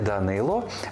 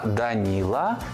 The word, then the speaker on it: Данило: згідно з російською вимовою не Микита а нікита не Кирило а Кіріл не Данило А даніла чи Даніїл без сумніву батьки мають